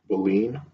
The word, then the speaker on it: baleen: material that look at that word again it's pronounced bullying baleen baleen let's practice reading the sentence where Bolinas